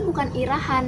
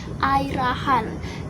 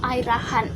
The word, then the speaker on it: Ira Khan: kalau misalkan nyebut namanya dia itu bukan irahan yang bener itu adalah air rahan jadi di pronounce itu air Khan dan kalau kalian masih